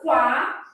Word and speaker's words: quase: O é pronunciado, quá. O S tem som de Z aqui, posso representar com Z ou não, tanto faz, se eu colocar um S não tem problema.